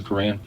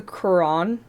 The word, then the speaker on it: Quran: It's the Quran, right? That's how you say it. The Quran. I guess it does sound like crayon.